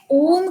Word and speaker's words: ओम: गहरा लंबा श्वास लें, उस श्वास को अपनी नाभि तक लेके जाएं और फिर धीरे धीरे ओ, अ, उ और म के तीनों साउंड्स को इनकॉर्पोरेट करें।